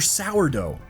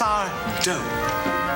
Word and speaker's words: Sardo: Sourdough. It's Sardo.